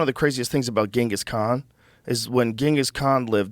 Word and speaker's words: Genghis Khan: On Genghis Khan is the correct way to say it.